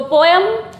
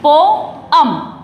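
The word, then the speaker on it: poem: तो पोयम हम बोलते हैं कॉमन में, लेकिन इसका जो प्रोनाउंसिएशन है वो है पोअम। पोअम।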